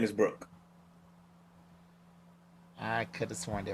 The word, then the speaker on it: Brook: does he Brooke. say His name is Brooke? Brooke. Brooke. They were saying Brock.